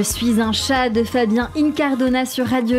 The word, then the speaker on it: Incardona: Fabien Incardona, ça s'écrit I-N-C-A-R-D-O-N-A, Incardona écrit, et ça se dit Incardona.